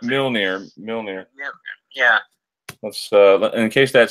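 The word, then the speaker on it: Mjölnir: Mirmir. I can't pronounce it. Milnir.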